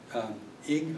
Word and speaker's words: Ige: But it finally got done, and Hawaii's Governor David Ige, I think it's pronounced I-G-E, Ige, thanked the top court, saying he thinks that the decision was fair.